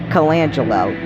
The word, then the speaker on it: Colangelo: It's Colangelo. That's how you pronounce it.